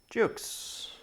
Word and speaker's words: JUXXE: another unboxing this time coming from the company Jukes which is spelled J u xx e and this is